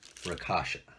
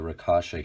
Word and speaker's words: Rakshasa: 2179 figures the Anubis and I think it's pronounced rakasha all right the first thing we're gonna